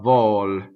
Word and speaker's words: vol: Lanciati a vol. So lanciati, as it's set in the opera. The a is a strong monosyllable, so you have a double V. Vol, volo, closed.